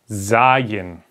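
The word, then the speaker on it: Zayin: a curve okay zagin well I just put a z like in Zoom okay I'll write it there so you can remember how to pronounce it like in Zoom Z like in Zoom or Zoo okay for all the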